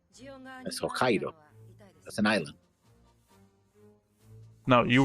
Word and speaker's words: Hokkaido: That's Hokkaido. That's an island. No, you were saying Hokkai as Yokai. No, you were saying Hoai. You were instigating with an H.